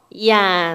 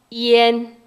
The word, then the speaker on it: ian: 요거 정말 많이 들리시는데 얼핏 보니 어때요? 이안. 아우 쉽다. 이렇게 갈 것 같은데 별표 치세요. 이엔. 이엔 이렇게 발음합니다.